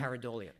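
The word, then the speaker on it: pareidolia: Paridolia. Paridolia.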